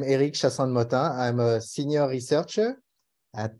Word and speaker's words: Eric Chassande-Mottin: So yes, you pronounce it right, Apatim. I'm Eric Chassande-Mottin.